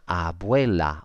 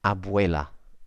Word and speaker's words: abuela: in Spanish that and one way of remembering how to pronounce that is to think of the English word way W a Y because that's how it sounds abuela abuela okay so you can